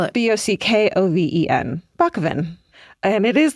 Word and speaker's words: Bockoven: Spell it. B O C K O V E N.